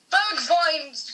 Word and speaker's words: Bergwijn: We don't know how to pronounce. But I don't. There's got to be different ways. Google Translate. And it's Bergwijn. Bergwijn.